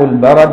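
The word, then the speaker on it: البَرَد: صغيره فده البرد وماء البرد بفتح الرائي الاحسن تقولي البرد شوفي يقول لك بفتح الراء عشان يعلمك تنطقها ازاي كمان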